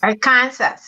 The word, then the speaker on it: Arkansas: in kansas city okay what about the our kansas a-r-k-a-n-s-a arc art kansas arkansas our kansas and kansas is one state arkansas not i think